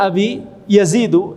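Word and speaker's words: أبي يزيد: Kana abi yazidu itu bacanya begitu ya.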